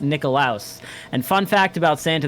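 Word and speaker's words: Nickolaus: so it's actually it's spelled n-i-c-k-o-l-a-u-s and it's pronounced nikolaos and fun fact about santa that most people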